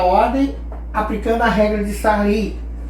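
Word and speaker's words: Sarrus: Bom, cálculo determinante, terceira ordem, aplicando a regra de Sarri. A gente escreve Sarros, mas a pronúncia correta é Sarri, correto?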